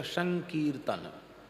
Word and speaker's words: संकीर्तन: तो हो गया संकीर्तन मकार जो है उसका अनुस्वार हो जाता है और अनुस्वार का उच्चारण परवर्ती वर्ण के अनुरूप होता है तो कीर्तन का ककार पर में है इसलिए अनुस्वार का उच्चारण नकार के जैसा होगा तब होगा संकीर्तन वैसे शब्द है सम कीर्तन पर वि अनुस्वार होकर फ उसका उच्चारण शुद्ध उच्चारण होगा संकीर्तन संकीर्तन क्या है कीर्तन